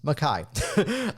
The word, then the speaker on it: Mackay: Take note, it's not Mackay, it's spelled that way, but it's Mackay.